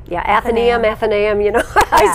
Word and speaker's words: Athenaeum: Athenaeum? Yeah, Athenaeum, you know.